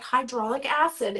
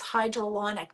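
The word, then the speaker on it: hyaluronic: get this word right it's not hydraulic a Aid it's hydronic did I say it right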